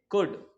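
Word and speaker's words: could: सीओ यू एल डी मैंने बताया L silent होता है तो हम इसको पढ़ेंगे कुड कुड एफ आई एनडी हो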